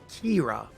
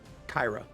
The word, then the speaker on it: Kira: I assume it's pronounced Kira, as opposed to like Kyra.